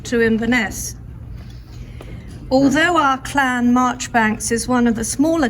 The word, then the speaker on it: Marjoribanks: places around scotland where march banks links are found there is the march bank's farm in dumfricia and march banks although they actually pronounce it marjorie bank street in bathgate both of